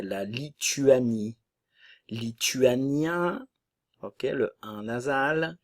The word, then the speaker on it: Lituanie: lesonne leson lesonne la Lituanie attention le son u français la Lituanie luanien ok le a